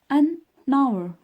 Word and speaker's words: hour: عندنا لا لتر H ولكن كتكون silent. For example an hour. هي راه كنكتبو الأش ولكن ما كنطقوهاش كنطقو نيشان الأو. an hour.